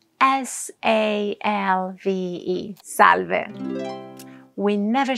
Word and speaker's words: salve: We say salve. The pronunciation is easy. Salve. And it's written as it sounds. S-A-L-V-E.